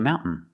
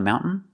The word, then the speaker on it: mountain: pronunciation mount Mountain you have two pronunciations you can say Mountain making the T sound mountain mountain or you can make a stop T Mount put the tongue up and stop the air and then fall to the N mount mountain both pronunciations are correct another example they're skiing